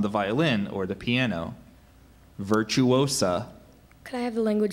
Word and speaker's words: virtuosa: word could be confused with a similar word virtuosa and a virtuosa is a woman who excels in the technique of an art especially one who is a musical performer as on the violin or the piano virtuosa could I have the language of origin please